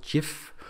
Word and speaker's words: gif: a file extension called gif or gif it's pronounced both ways gif and it's an